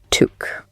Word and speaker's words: toque: But it is pronounced to rhyme with the name Luke.